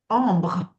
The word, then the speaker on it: Ambre: Okay, so Alex, of course, it is Kavina, how do you pronounce it correctly? Ambre.